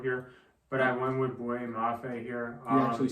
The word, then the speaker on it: Boye Mafe: Next up, the Kansas City Chiefs are up, and I was really considering David Ojabo here, but I went with Boye Mafe here.